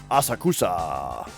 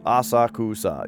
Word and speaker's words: Asakusa: Is usually 2 syllables. Asakusa. Yeah, like, well, yeah, I know that it's like Asakusa are the syllables. I just don't know where to put the emphasis, you know what I mean?